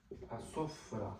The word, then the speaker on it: Sofra: Again, here's the Ain sound, which is very important if you want to learn the proper Aramaic pronunciation. This sound is actually the last letter in the name of Jesus, and many people are not able to pronounce it. So it's Ain. It's Sofra.